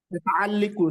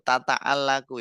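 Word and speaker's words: تتعلق: Antum bacanya apa tadi? Tata'alliku Ustaz. Oh, tata'alliku. Tata'allaku yang benar, akhi.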